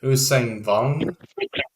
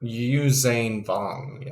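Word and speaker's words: Yuuzhan Vong: got here is uh the usain bone which is a it's a more obscure race of the star wars world um they are only really or usain vong i mispronounced it they're only really mentioned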